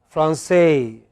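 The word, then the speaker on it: Français: In French, it is always the last syllable. So, they pronounced Paris. Okay? They always, in English, sorry, in French, they pronounce it as Francais. They pronounce it as Francais. Okay? It is always the final syllable, no exception.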